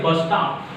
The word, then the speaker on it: bus stop: When the word is a compound word. See, here the word is bus stop.